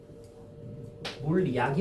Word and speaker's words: 물약: 니은 첨가니까 물약이 되겠지? 근데 최종 발음은 뭐야? 물리약. 물리약이 되는 거예요.